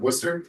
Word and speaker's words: Worcester: You outside of Worcester.